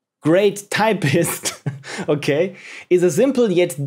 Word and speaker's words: Create Typist: Create Typist, a gem game by Luca1152. Create Typist, pronounced Great Typist, okay, is a simple